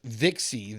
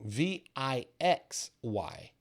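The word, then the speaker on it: VIXY: chart and this is vixi the vxiy uh V I just said it wrong V I X Y sorry a little dyslexia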